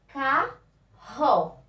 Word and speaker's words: carro: cobra lúcia fraca fica caro apenas com r com a pronúncia forte e ficou carro olha só é a